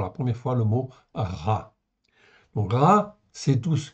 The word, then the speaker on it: רע: vous le voyez là r Aï ok je peuxter en fait la virgule après ça peut gêner en fait un peu R a b ça se prononce RA en fait en français tout simplement ok c'est un mot